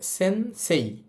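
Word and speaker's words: 先生: এটাকে আমরা সেন্সেই না বলে এটার উচ্চারণ করব। সেন্সে সেন্সে। এখন আপনি যদি এই শব্দটাকে সেন্সেই বলেন তাহলে কিন্তু ভুল হবে না।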